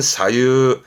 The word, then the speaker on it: 左右: 오른 우자 대표로 뭐라 할까요 기본적으로는 좌우 갑시다 발음은 사유 사유입니다 하지만 우회전할 때는 우세 발음이 우가 되는